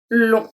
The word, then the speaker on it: long: And finally, long.